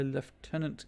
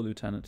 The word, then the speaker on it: lieutenant: Dead Field Report by leftenant Gant or Lieutenant depending on your preferred pronunciation I guess shell mullet